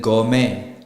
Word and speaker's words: gourmet: Same thing with gourmet, ballet. The T is not pronounced.